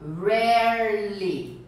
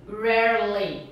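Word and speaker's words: early: é capciosa viu gente essa palavra Harry ela tem duas sílabas ó então se você pensar inscrito até errar é ele mas quando você pronuncia você fala hearle Harley então é o som ainda faz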